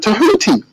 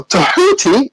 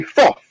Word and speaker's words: Tahuti: Now, Tahuti is another name that people do not realize they're mispronouncing. In English, you may say Thoth, but in African languages, they don't have the TH. It's more a phonetic language, so it's actually Tahuti.